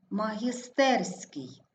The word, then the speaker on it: магістерський: падає на третій склад магістерський також наголошений третій склад шляхопровід наголос падає на